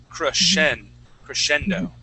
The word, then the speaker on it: crescendo: This SC here in the middle, that makes a CH sound, crescendo, okay?